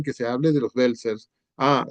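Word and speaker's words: Welser: En alguna parte en que se hable de los belcers, ah, se pronuncia así, los Belcer, eh, que era una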